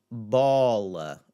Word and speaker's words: bola: It's just going to have the aw, aw, and like, aw, what a cute baby, que bebê lindo, aw, like in the word bola, bola, a bola, bola.